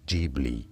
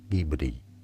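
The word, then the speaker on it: Ghibli: Yes, because this is not Italian. Yes, there is a Maserati car called Gibli. But no, the name of the studio is as Gibli from Japanese Gibbli.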